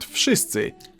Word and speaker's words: wszyscy: dreams and can be whatever the hell they want, in Polish you simply pronounce each sound one after another and you get the word. Wszyscy. W, sz, sy, cy, Wszyscy.